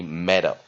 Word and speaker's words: metal: 住这个 vowel nucleus e，所以 it becomes closed syllable。所以我们念短母音 mat，第二个音节 a 念弱母音 o，所以合起来就念什么呢？meadow。当然有的人会把这个 d 念得比较像 d meadow 那大部分人都会有这种念法你念 metal 跟 meadow 都 meadow 的念的人可能会比较多美式念法好，来跟老师一样，回到今天的单字 heavy